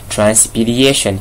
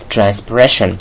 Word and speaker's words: transpiration: But some of you pronounce it wrongly. You pronounce it as transpiration. It's not transpiration. The word is transpiration.